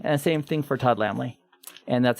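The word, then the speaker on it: Lammle: And same thing for Todd Lamley. And that's how you pronounce Lamley, by the way.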